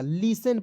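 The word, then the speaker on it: listen: आई एस टी एन तो लिस्ट नहीं पढ़िए लिसन पढ़ेंगे क्या पढ़ेंगे लिसन ठीक है एक एक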